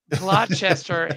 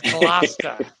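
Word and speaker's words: Gloucester: Midwestern kid man right it's not glester it's GLA I'm a Midwestern kid living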